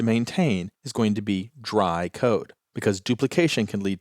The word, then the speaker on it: DRY: Now, I'm always going to pronounce that as dry, but it's actually three letters, D R Y, which stands for don't repeat yourself.